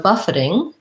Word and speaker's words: buffeting: births rules rolls okay so buffeting this is an example of that t is more of a flap so we end up saying it more like a d sound